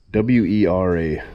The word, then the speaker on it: Wera: And the key to doing this is these are, I don't know how you pronounce it. W-E-R-A, Wera.